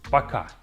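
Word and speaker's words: пока: The very first one is paka. Paka. Super simple in pronunciation baka.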